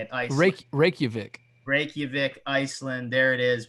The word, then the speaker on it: Reykjavik: fan base in that's how you say it reykjavik reykjavik iceland there it is we've got a